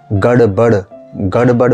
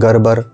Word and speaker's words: गड़बड़: जैसे गड़बड़ में गड़, ये वाला कॉन्सोनेंट गड़, ये वाला कॉन्सोनेंट बहुत से लोग बोलते हैं गरबर, ठीक है। मतलब इसका सही तरह प्रोनाउंस नहीं होता।